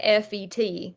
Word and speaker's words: Fayette: I know I'm saying it like FET. It's actually FAYETTE. But if you're anywhere from around there, you say it like Fayette, and that's how people know you're from there.